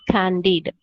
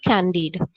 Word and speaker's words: Candide: opus that is his greatest work is called candide the pronunciation is candied okay candied this is actually a novella it's a voluminous